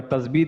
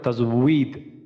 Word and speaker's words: তাজবীদ: জিনিস খেয়াল আছে যে আমরা তাসবিদ বলি তাজবিদের ক্ষেত্রে এখানে আমাদের এই যে ওয়াও টা আছে যে তাসবিদ আমরা ওয়াও টা থাকার তাসবিদ হইছে এটা আসলে উচ্চারণটা হবে তাজবিদ তাজবিদ তো ওয়াও জের উই